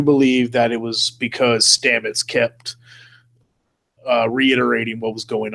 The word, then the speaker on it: Stamets: which means we should probably talk about Paul Stamets you know I all right cool I said